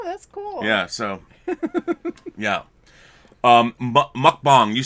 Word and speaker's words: mukbang: And it's pronounced mukbang.